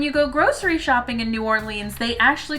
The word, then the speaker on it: New Orleans: Nolans? No, I am far too northern to say that last one. But what's the right way to say the name of this city? New Orleans. Ah, okay. Thanks, pronunciation book.